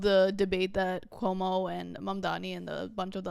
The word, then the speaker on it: Mamdani: And I loved at the end where Mamdani was like, and by the way, my name is pronounced Mamdani with an M and an N at the end, right?